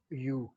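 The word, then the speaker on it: μ: This is mu. So mu is mu, right? That is the pronunciation, mu.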